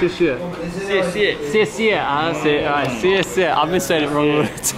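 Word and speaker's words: 谢谢: How do you pronounce it? Xie xie.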